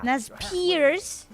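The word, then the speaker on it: Nez Perce: This the Nez Pierce. That's fine. Nas Pierce. That's how you pronounce that.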